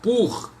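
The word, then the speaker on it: πῦρ: Fogo é um símbolo muito assim utilizado, é uma palavra grega que quer dizer pur, P-U-R, né? Pur, na pronúncia, né?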